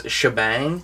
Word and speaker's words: Shebang: Static and Gear, and her name is Shabang, but it's spelled like Shebang.